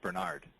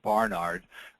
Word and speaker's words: Barnard: concept was developed by a gentleman named Marius Bernard uh very well-known outside the United States surgeon in South Africa in fact his brother Christian that's actually pronounced Barnard uh did the first human to human heart